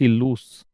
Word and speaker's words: loss: एक है LOSE लूज, एक है LOOSE लूस, और एक है LOSS लॉस। ये तीन चीजें हैं। LOSE जो है इसका उच्चारण है लूज, इसका उच्चारण है लूस, और इसका है लॉस।